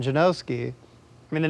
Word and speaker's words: Janoski: Stefan Janoski. And what pronunciations do you usually hear? Oh, Stefan, Steven, Stefan. What do you say for the last name? Janikowski? Janowski. Yeah, there's no W yet. Janoski.